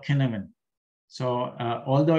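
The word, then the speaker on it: Cynefin: approach is a framework uh this is called kineman so uh although it's spelled as c-y-n-e-f-i-n uh it's a welsh word and thus is pronounced as a kinamine so it was developed by david snowden in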